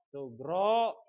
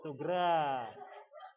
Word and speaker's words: sugra: kita bahas yang pertama, yaitu kiamat sugro, bukan sugra. Ya. Tulisannya memang sugra, tapi dibacanya bukan sugra, ya, tapi sugro, karena bahasa Arabnya itu menggunakan huruf ro, bukan ra bacanya, tapi ro, ya.